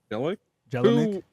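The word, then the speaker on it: Jelenic: And Michael Jel Jelik Jelick.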